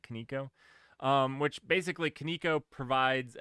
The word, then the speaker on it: kaniko: or um kaniko kaniko is how I'm going to pronounce it kaniko um which basically kaniko